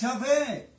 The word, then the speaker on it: Yahvé: Hablamos del Padre Celestial, claro, pero ahora hablamos con su nombre real, porque el conocimiento nos ha llevado a pronunciar y conocer que su nombre es Yahvé, el Dios de Israel.